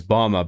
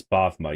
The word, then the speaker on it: Bavma: I mean, I thought it was Bama, but if you play the game, when they say his name, it's it's BMA. You're supposed to say it with like a V in it.